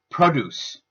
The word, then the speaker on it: produce: The noun has the stress on the first syllable which changes the vowel that is used from schwa to o changing the sound of the word to produce.